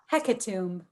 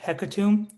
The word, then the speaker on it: hecatomb: say it again please hecatomb hecatomb am i saying it right hekatum you got it um hecaton h e